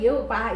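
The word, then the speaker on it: יהוה: 여호와 에 대해 다시 한번 설명 해 드리겠습니다 . 사람들 은 보통 여호 와 라 고 하지만 , 여기 에 바브 (vav) 가 있어서 예호바 (Ye-hovah) 라고 발음 합니다 .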